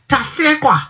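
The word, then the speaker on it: Tahlequah: We give you the actual pronunciation of this capital. Tasekwa, the U.S.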